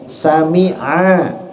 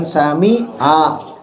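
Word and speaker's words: سَمِعَ: Sami Allah pakai ain bacanya ya. Sami'a, sami'a, bukan sami'a.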